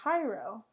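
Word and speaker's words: Jairo: The J is pronounced like an H, so it'll be Hyro.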